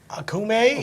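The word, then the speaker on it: Okoume: Akume, yeah.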